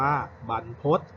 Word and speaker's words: บรรพต: ดี ๆ นะ ครับ คำ นี้ อ่าน ว่า บรรพต ซึ่ง หมาย ถึง ภู